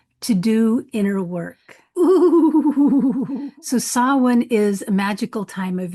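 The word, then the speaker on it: Samhain: Halloween derives from an ancient festival called sin. It's spelled s a m h a i n and it's pronounced sawin.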